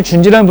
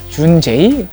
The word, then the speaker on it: JUUN.J: 스펠링 보면 아시겠지만 그 브랜드를 처음 읽을 때 준지라고 읽기는 쉽지 않죠. 준제이?